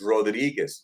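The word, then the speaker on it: Rodríguez: It's Rodriguez. No, it's Rodriguez. Roll your R's. There's a Z at the end.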